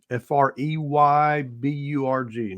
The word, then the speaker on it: Freyburg: It will be at Freiburg Hall, Freyburg, not spelled like it sounds.